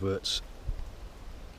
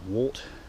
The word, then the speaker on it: wort: And this is one of the St John's worts, spelt W-O-R-T. Some people pronounce it wart, I pronounce it wort.